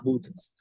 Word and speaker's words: Buddha: called foreign Buddha you need to you need to pronounce two D's One D is second one is huh I hear something like pee um foreign sometime speakers use putang Buddha there is a their pronunciation something right so we have to correctly understand Buddha or Subway once again I hear T I hear T sound you have to get rid of the T sound it is D